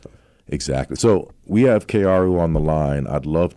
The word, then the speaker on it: Kaoru: name properly, but Okay, everyone in thank the you. States call me Kaoru. Kaoru. But the proper pronunciation is Kaoru, but, it's only Kaoru. when I'm in Japan. I got Don't worry you.